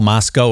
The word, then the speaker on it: Moscow: Moscow is how they pronounce it out there.